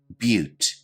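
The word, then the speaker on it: butte: the video description below our next term is pronounced a little bit differently than you might imagine but repeat after me but a but is a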